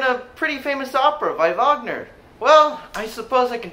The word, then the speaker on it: Wagner: life and music of wagner richard wagner was born in 1813 in leipzig germany notice how his last name starts with the w but it's pronounced with the v sound that's how w's are